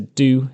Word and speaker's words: DO: which I will also refer to as DO, pronounced do.